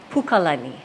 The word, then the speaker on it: Pukalani: I live in Pukalani so many people say Pukalani or even just Lani Lani is incorrect lny so Pukalani ah okay and we've